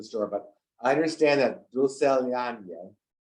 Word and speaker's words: Dulcelandia: Okay, help me if I mispronounce the name of the store, but I understand that Dulcelandia. Correct, yes, Dulcelandia.